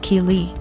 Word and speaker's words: Keely: My daughter's name is Keely, pronounced Keely.